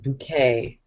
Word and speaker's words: Bucket: yeah that was it her name was hin bucket but she would pronounce it bouquet yeah that's great I